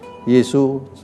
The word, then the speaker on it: 耶: Indonesiakan Yesus Yesus tapi Yesu huruf-huruf Mandarin Yi Soo ini agak berbeda sangat luas sekali jadi perlu kita lihat satu-satu it Ayo kita bener iya dulu Ini bacanya ye ye ye bacanya iya iya ini kita bisa